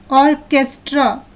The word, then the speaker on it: orchestra: In the second picture, the syllables CH are pronounced as k, choir.